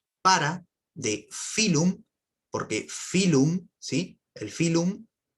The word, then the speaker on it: phylum: para de filo porque phylum si el filón se pronuncia con una letra f pero se escribe con una p bien es ph y